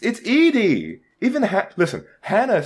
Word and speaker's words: Edie: from Lonesome Road, as Eddie, and go fuck yourself, Yogscast fandom, and that. What? You don't call it Eddie. It's Edie.